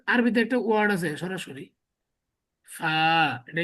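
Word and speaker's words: فاء: ফা ফা ফা ফা ফা ফা ফা তার মানে এর সময় মনে রাখতে হবে কি, আপনার দুই ঠোঁটের মাঝখান দিয়ে একটু বাতাস বেরিয়ে যাবে, ফা।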